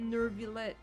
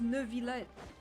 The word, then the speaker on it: Neuvillette: I need her to stop pronouncing it Neuvillette. Quit following. There's no R. It's just Neuvillette.